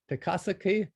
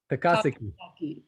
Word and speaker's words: Takasaki: Lori Ludke from Takasaki, Japan. Lori, can you pronounce that for me? I want to make sure I get that one right. Takasaki.